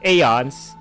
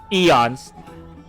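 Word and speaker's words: Aeons: a so as such I'm going to pronounce the aons as it as it is not eons If I were to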